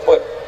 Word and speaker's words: Pet: Remaja Masjid Baitur Rahim, Gampong Simpang Pet, bacanya Pet, Kecamatan Kuala, Kabupaten Nagan Raya.